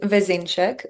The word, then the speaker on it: Vezenšek: So help us out and let our audience know how to pronounce your surname properly. For sure. My last name is Vzeneek, which is troubled last name even for Slovenians.